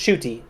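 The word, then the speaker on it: Ncuti: know about shy um his first name is pronounced shuy and it it shows like s h o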